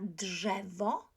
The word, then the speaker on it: drzewo: Kto spotyka w lesie dzika, ten na drzewo zaraz zmyka. D is voiced, ż is voiced, therefore drzewo, drzewo, tree, a tree.